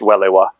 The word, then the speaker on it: Welewa: And yes, it's pronounced Welewa.